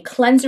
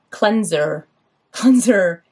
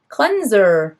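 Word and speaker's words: Total Cleans'r: pronunciation i called it cleanser hunter that's what it says total clean s apostrophe r it's like cleanser but the the apostrophe is where the e would be cleanser are we pronouncing that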